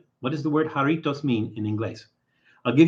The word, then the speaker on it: Jarritos: Except in Spanish, that J is pronounced like a H, so it's Jarritos. And you roll the R. Jarritos.